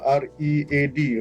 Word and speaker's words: read: Tapi dalam bahasa Inggeris, ejaan dia sama, R-E-A-D, read, membaca. Dan boleh juga dibaca dengan cara R-E-A-D tu jadi red.